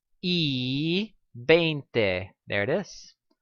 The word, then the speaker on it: y: know that the word and is this letter e okay it's actually the letter is but it's pronounced e so when we want to sayas